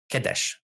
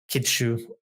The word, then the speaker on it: Kadesh: So Kadesh is how we would generally pronounce it in Egyptological pronunciation. For the Hittites called it Kinza, but the Egyptians seem to have called it Kadesh or Kidshu, something like that.